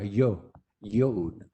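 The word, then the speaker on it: יוד: La yod, que también puede ser una línea pequeña y se pronuncia como lluvia, yod.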